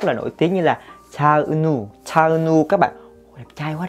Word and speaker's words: Cha Eunwoo: Chúng ta sẽ đọc là Cha Eunwoo, được chưa?